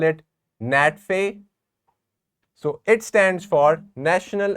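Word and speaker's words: NATFHE: a t fhe e you can call it Nat feay so it stands for National Association of teachers in further and higher education net fee this is how you pronounce it NATO stands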